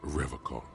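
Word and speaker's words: Revachol: He pronounces Revocol with a hard K, unlike other people.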